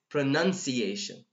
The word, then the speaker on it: pronunciation: pronunciation what the hell what no it is pronunciation so make it short okay Brannen pronunciation pronunciation pronunciation not pronoun okay so let me delete